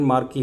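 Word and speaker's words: marquee: अब मार्की को हिंदी में बोले तो मार्की, इसका प्रोनाउंसिएशन मार्की है।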